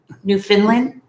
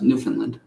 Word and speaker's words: Newfoundland: where is that is that in england newfoundland new finland it's not new finland it's pronounced newfoundland newfoundland newfoundland no no extra eleanor hi irene